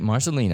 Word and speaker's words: Marcelino: yeah I said it right this time Frank Marcelina I've been practicing been practicing I know I'm